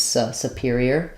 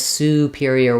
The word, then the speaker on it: superior: hear people just use Superior Superior it's unstressed and short so what you don't want is superior with a long clear o it's going to have a very shortened somewhat reduced oo Superior um then we have